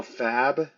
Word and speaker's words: Fab: this point, there's now Fab, I believe is how it's pronounced, like short for fabricate, I imagine.